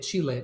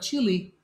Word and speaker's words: Chile: and by the way the country of chile that's how you say it chile not chili you visit it you don't eat it it's a pet peeve